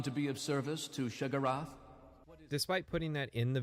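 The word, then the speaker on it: Sheogorath: be of service to shagarath despite putting that in the video and pointing out that this is the pronunciation of the name that Morrowind gives you people still leave embarrassing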